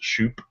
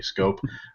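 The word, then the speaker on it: Schoop: a minute uh Jonathan scope is out there it looks like it should be pronounced shup but it's really scope uh he's bat an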